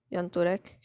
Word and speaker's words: Jan Turek: gentleman that's jan turek that's i believe how you pronounce it yantorek and this is his